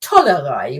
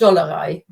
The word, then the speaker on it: Tollerei: proper word is actually Tollerei with a T. Okay. But it's been pronounced with a D so much that you can actually, or people use both. I only know it as Jux und Dollerei, and I've never heard